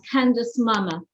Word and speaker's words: Candice Mama: but an extraordinary story of forgiveness and that's candace mama have i pronounced your name correctly oh you did a